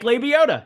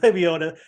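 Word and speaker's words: Lebioda: 6200 hey Hank Hank uh Hank the big labiota yeah Hank leviota thank you I just always pronounce his name incorrectly um he doesn't deserve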